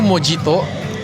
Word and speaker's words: mojito: Tulisnya tuh mojito, tapi kalau di Spanyol kan J itu dibaca sama H. Jadi bacanya mojito.